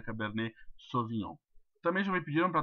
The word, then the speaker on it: Cabernet Sauvignon: Se escreve Cabernet Sauvignon, mas se lê Cabernet Sauvignon. Uma vez eu estava atendendo uns clientes e me pediram para tomar um Cabernet Champignon.